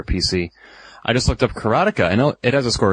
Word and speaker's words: Karateka: I always actually thought it was pronounced Karateka. According to Jordan Mechner, it's Karateka.